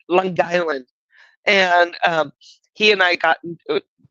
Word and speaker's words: Long Island: It's all one word, Long Island.